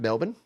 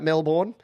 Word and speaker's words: Melbourne: and he's live in Melbourne, and it is pronounced Melbourne. I know it looks like Melbourne, and I don't give anyone grief if they say Melbourne.